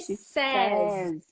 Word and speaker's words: says: I say she says says ignore this y here and think of she says and the sound is of a z she says is that a song like that no it's you say I'm crazy you say I'm crazy so says with a Z got it and then